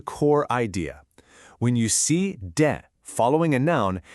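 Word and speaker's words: で: The particle de pronounced de.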